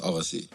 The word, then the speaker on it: Agassi: just, you can say either way. Yeah. But It is pronounced Avasi.